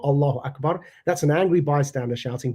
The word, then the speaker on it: Allahu Akbar: In Arabic, you don't say Allahu Akbar. You say Allahu Akbar, not with a prolonged vowel at the end.